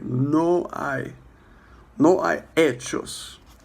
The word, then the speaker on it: hechos: No hay hechos. The H is silent.